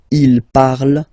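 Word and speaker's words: parlent: And the last one, so even if you've got this ent, well, don't hate me, but you won't pronounce these letters, okay? You have to write them for the plural form, but you don't pronounce them, so you get il parle, elle parle.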